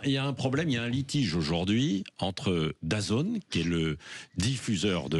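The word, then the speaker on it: DAZN: de de programme sportif dazone ça s'écrit d a Zn ça se prononce dazone la zone en anglais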